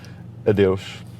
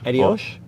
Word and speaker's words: Adeus: And how do you say bye? Adeus. Say it again? Adeus. Adios? Adeus.